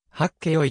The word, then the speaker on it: はっけよい: たものである実際にははっけよいと発音されることが多い残っ